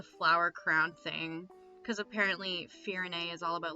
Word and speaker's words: Firene: Firen or Firene? Firene, I think that's how they pronounce it in the trailers.